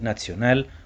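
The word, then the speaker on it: National: وفي الأغلب بما أن كلمة ناشونال في اللغة الألمانية بتتنطق ناتسيونال وده نفس نطق كلمة ناتسي، ده ممكن يكون واحد من الأسباب اللي خلت الحزب يحاول إعادة تخصيص المصطلح ده.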